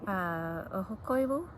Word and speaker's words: Ahokoivu: Oksi by Mary, how would you pronounce her name? Ahokoivu.